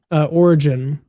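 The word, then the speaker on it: Origen: So origin is the way you're supposed to say it, if I remember correctly.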